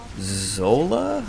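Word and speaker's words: Xsolla: the past that is Zola I believe is how you pronounce it Xs o l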